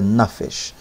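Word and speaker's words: נפש: melor verim Lamar e nafes ou nafes né pronúncia correta é nafes então o que quer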